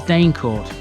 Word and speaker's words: Deancourt: Deancourt School was always pronounced by the locals as Danecourt.